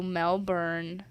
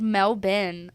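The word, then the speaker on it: Melbourne: all the way to melburn I think it's pronounced melbin Australia for pesto the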